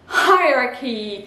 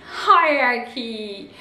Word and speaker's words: hierarchy: Alors je vous mets la transcription, hierarchy, hierarchy. Voilà, donc le CH devient K. Le H est bien prononcé et on a une petite diphtongue dans la transcription phonétique, ça nous donne ceci. Et on le prononce hierarchy.